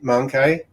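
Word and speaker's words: mancae: i i usually say mangkai which goes with my italianized pronunciation the the word the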